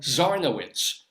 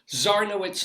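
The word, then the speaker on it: Żarnowiec: It's a Teutonic tumble as Polish forces defeat the Prussians in the Battle of Zarnowitz. I'll spell it Zarnowiec, Zarnowitz, part of the 13 Years' War.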